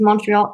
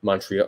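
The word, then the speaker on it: Montréal: the same thing but we just put like the French pronunciation of it so we don't pronounce the T but it is Montreal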